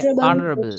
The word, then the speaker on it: honorable: ஸோ இது மாதிரி வேர்ட்ஸுக்கு நாங்கள் வந்து ஹெச்சை ப்ரொனவுன்ஸ் பண்ணக்கூடாது.